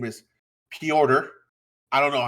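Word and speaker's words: Petr: as he as he says his name is peorter i don't know how you get p order out of p e t r but he says it's pronounced p order he's russian that one's russian somebody was saying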